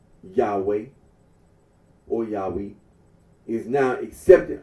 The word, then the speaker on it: Yahweh: The scholarly consensus is that the original pronunciation of the Tetragrammaton was Yahweh.